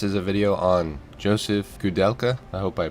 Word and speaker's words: Koudelka: This is a video on Josef Koudelka. I hope I pronounced that right. My name is Josef. Josef what? Koudelka.